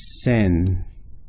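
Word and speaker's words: 千: they have a separate character for and it's pronounced sin sin so the word for if you were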